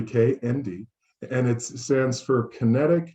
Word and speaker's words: K&D: Many people assume that it's pronounced kind, but it's actually K&D, and it stands for Kinetic, Nano, Dynamics.